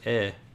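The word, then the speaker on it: へ: pronounced differently yeah so has pronounced wah when it's a particle and head is pronounced e so yeah tooth hit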